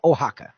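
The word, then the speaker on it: Oaxaca: word that's that's spelled that way is actually pronounced in real life ohaka o ax AA but theirs is not from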